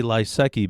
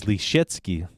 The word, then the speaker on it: Lysecki: Lysecki, like, I say Lysecki because that's the American pronunciation. The real pronunciation is Lysecki. Lysecki. So like Bruce Lee's key that he uses for the bathroom when he has diarrhea.